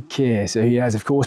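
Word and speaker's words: Keir: starma by the way I can't think of any other male name that rhymes with tear other than Kier so he has of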